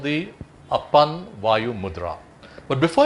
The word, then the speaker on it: apan: mudra or upon mudra ap a a N or apan whichever you want to spell it it's upon so you look at